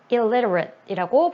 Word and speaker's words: illiterate: 그러면 글을 읽고 쓸 수 없는 사람, illiterate이라고 발음이 나오죠. 발음이 조금 어려워요. 왜냐하면 L하고 R이 같이 가 있으면 한국 사람들이 좀 발음하기 어려운 부분이니까 좀 연습해 주시고요.